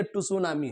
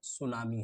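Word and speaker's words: Tsunami: ये क्या लिखा है, कुछ बच्चे बोलेंगे सर ये टुसुनामी है। बच्चे टुसुनामी नहीं है, ये क्या है आपका, सुनामी है।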